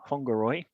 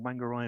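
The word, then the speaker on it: Whangārei: this contact through Facebook with Whangaroi, or Whangaroi as we would pronounce it here.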